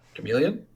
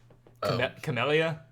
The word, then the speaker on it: Camellia: It's the Camellia Bowl, or however you pronounce that. Chameleon? No, it's Camellia. Camellia? Camellia? I don't know. I see LL and I always want to call it Y because, or yeah, Spanish. Spanish.